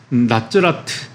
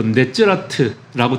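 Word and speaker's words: נצרת: 이 네체르가 나사렛, 나사렛을 히브리어로 하면 나츠라트 또 네츠라트라고 되는데 발음이 아주 유사하죠.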